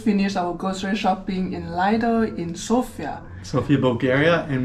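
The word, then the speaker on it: Lidl: our grocery shopping in liel in sopia sopia Bulgaria and we talk about Li all the time some of you pronounce it little but it's our favorite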